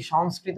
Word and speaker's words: সংস্কৃত: কি এক বিপদে পড়লাম আমাদের এদিকে আবার ঝড় বৃষ্টি হচ্ছে আমি জানিনা তোমাদের হচ্ছে কিনা সংস্কৃতর উচ্চারণ কি সংস্কৃত উচ্চারণে এমন হয় এটা একটু অন্যরকম সংস হ্যা কৃত